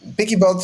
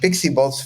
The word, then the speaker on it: PiccyBot: picky bot well yeah pigy Bots if you if you spell it right that's because everybody's been calling it pixie Bots for some reason because the well the voice over happen to call it like that but uh if